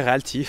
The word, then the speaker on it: Realty: Et tu as une manière de le prononcer, toi qui va bien? Bien en bon français, Realty.